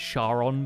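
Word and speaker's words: Charon: actually very good uh this is karon the ferryman might know him as sharon but karen is how they pronounce it just minding my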